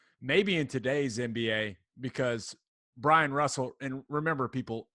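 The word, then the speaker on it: Bryon: And now, maybe in today's NBA, because Brian Russell, and remember, people, it's Brian spelled really weird. There's an O and a Y. It's not Byron. It's Brian.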